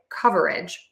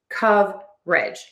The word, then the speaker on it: coverage: So, when I am saying this word slowly, I will say coverage with three syllables. And that schwa syllable is in the middle. However, when I'm having a conversation, I do tend to totally drop that schwa syllable and really reduce that word to just coverage. So, you can say coverage or coverage, whichever you prefer.